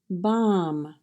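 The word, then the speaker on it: bomb: and in voice tone BOM BA Bom now you'll notice the English spelling has a B at the end and that is silent so for the sounds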